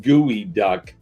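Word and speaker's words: geoduck: It is in fact a gooey, pronounced gooey duck clam.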